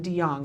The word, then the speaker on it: DeJong: And for those of you who don't know, because I haven't said yet, because I'm all at Twitter, this is Pat Grayson DeJong.